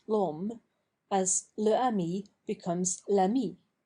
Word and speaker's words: l'homme: Le homme becomes l'homme, pronounced l'homme, as le ami becomes l'ami.